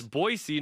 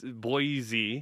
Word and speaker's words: Boise: Every time someone says it wrong, I have to hear there's no Z in Boise.